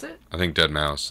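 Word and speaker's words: deadmau5: is that how you pronounce it I think dead mouse like you pronounced the five you have to pronounce the five I would say dead mouth five I hope you know that I know it's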